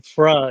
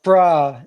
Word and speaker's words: Phra: Oh, so I was saying your name FRA is that ah I see. I see. So uh so Fra or Pra as you pronounce it means monk in Thai.